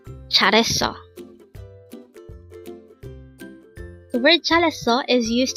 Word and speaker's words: 잘했어: 잘했어. Again, 잘했어. This pronounces a three-syllable word. The first syllable is 잘, the second syllable is het, and third syllable is 어. Pronounce it with me. 잘했어. 잘했어.